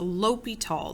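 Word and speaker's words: L'Hôpital: it but it's a l'hopital the H is silent it was named after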